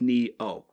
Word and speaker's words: Nioh: fantasy just drop boys is it neo or would it be since it's an eye would it be nioh and it's japanese it's knee oh because the ni sound phonetically in japanese is neat we are the knights